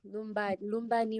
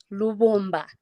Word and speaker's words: Lubomba: So, Lumbani, right? Lumbani? Am I pronouncing Lubomba. it well? Lubomba.